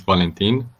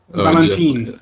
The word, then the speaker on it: Valentin: Is it pronounced Vantile? Oh, that's just my online name. So my name is Valentin. Valentin. Like in Valentine's Day. Like Valentine's Day.